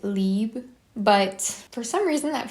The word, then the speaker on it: Libre: original Libre which I know this is technically pronounced like leeb but for some reason that feels hard for me to say every time so I just say Libre usually but this one for some reason when